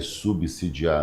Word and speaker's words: subsidiar: Belém vai subsidiar, não é subsidiar, subsidiar, subsídio, subsistência.